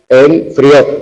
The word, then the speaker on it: enfrió: Aguda acabada en vocal, enfrió. Tenemos dos sílabas.